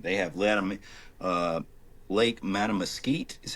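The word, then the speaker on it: Mattamuskeet: It is the largest they go to winter in Hyde County in these huge fields and they have le uh Lake Matamosite is how you say it and is this huge wildlife refuge and there are just thousands of swans, right?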